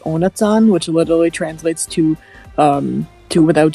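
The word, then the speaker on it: Ohnezahn: Also, fun fact: in the German version, they literally translate his name, and it's pronounced Onatsan, which literally translates to without teeth.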